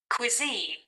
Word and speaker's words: cuisine: food okay area now let's listen how to pronounce this one correctly cuisine cuisine this is a British cuisine cuisine this